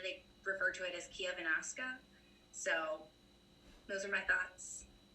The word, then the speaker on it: Chiavennasca: know in valtolina they refer to it as Kiev anaska so those are my thoughts you nailed the pronunciation of which is the the local word